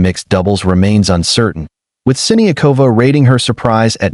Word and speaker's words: Siniakova: On a lighter note, Siniakova settled a pronunciation debate, confirming that Siniakova is closer to the correct pronunciation than Siniova.